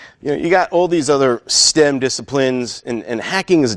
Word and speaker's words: STEHM: with an H yeah so it's just pronounced stem or if you choose